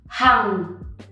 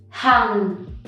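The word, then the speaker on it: Hằng: Next we have hang, hang. This one is not difficult to pronounce, but you often mix up the tone, so remember to go down, hang.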